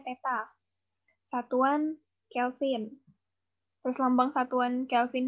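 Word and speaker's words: θ: tapi dimensinya adalah kurung siku peta nih lambangnya dibacanya Teta satuan Kelvin perlambang satuan Kelvin nya ka besar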